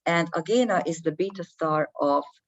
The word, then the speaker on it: Agena: Now, Venus is at the moment aligned with Agena or Agena, probably I'm going to call it Agena because this is how we pronounce it here in Hungary. And Agena is the beta star